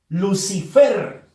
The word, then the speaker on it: Lucifer: Lucifer. Fuerza de voz en la sílaba fer. Por lo tanto, es la última sílaba de esa palabra. Termina en R. No se tilda.